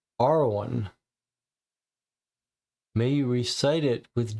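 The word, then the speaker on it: Arawn: an arcane ancient language, is believed to be pronounced Arwan. May you recite it with joy and trembling and welcome the truth into your heart. So, here's another mention of Awan, the spirit that we first encountered in the woods.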